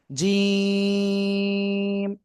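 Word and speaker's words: ج: জিহ্বার মধ্যখান তার বরাবর উপরে তালুর সাথে লাগাবেন। লাগিয়ে শক্ত করে উচ্চারণ করতে হবে। জিম তিন আলিফ টান।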